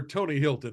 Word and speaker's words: Hylton: of the books and we should point out that Hilton to in Tony's case is spelled with a Y so a little less Paris Hilton and a little more tony Hilton Hy l t n